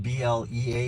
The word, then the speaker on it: Blea: blee the fleet because his name is spelled b-l-e-a it's blea but uh it's spelled like flea right so i'm like bleed